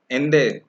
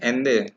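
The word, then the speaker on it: Allende: So Salvador Ende. You read this Ende. Okay. Because double L is not pronounced in Spanish.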